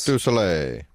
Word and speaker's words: Cirque du Soleil: Cirque du Soleil. Yeah, that's the style. Does he say it properly? Probably not. Am I? Yes. Cirque du Soleil.